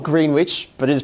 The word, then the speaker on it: Greenwich: stops at greenwich yeah so um and it is spelled greenwich but it is pronounced greenwich because you know